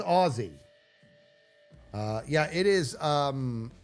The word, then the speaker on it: Aussie: It's pronounced Aussie.